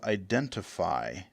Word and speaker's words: Identifi: We are looking at an app called Identifi, but it's spelled a little differently. It ends with an I.